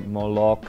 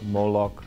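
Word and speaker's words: Moloch: that so yeah in in Dutch you would say or molok in molok the Americans say molok I think so but whichever way works for you um so I've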